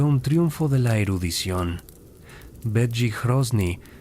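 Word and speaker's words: Bedřich Hrozný: Begi Hrosny, pronunciado Beie Hrosney, un lingüista chco, fue fundamental.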